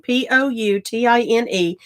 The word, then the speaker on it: poutine: It has French derivatives, poutine, Poutine.